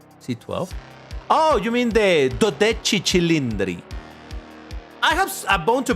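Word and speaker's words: Dodici Cilindri: You are supposed to pronounce it as doi chilindri cuz it's it's in Italian. People will mock you if you say 12 cylindric.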